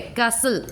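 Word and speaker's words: castle: नहीं हो रहा है, कैसल, कैशल, CAS कैश, सिल, LE, टी का प्रोनाउंसिएशन नहीं हो रहा है।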